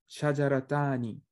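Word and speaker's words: شجرتان: But the pronunciation is same. Shajaratani. So you pronounce the ta.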